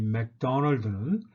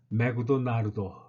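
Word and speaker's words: McDonald's: 메구도 나루도 이렇게 발음을 합니다. 자, 메구도 나루도 이렇게 발음을 하는 것이죠. 그런데 액센트는 어디 있습니까? 맥도널드에 있는 것이죠. 맥도널드 이렇게 발음해야 되는 거죠.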